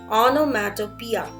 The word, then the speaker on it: onomatopoeia: Please make a note of the pronunciation, which is just not going along with the spelling. It's pronounced as onomatopoeia and not onomatopoeia.